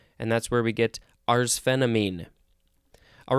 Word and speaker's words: arsphenamine: We are going to move on to arsphenamine. Let's double-check the pronunciation.